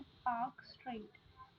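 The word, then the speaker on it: Palk Strait: ये एक स्ट्रेट है जिसका नाम है पार्क स्ट्रेट, एल साइलेंट है, याद रखिएगा, पार्क स्ट्रेट।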